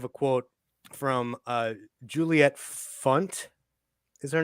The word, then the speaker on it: Funt: quote from uh Juliet Funt is her name is that what it rhymes with it rhymes with uh squeeze bunt okay great all right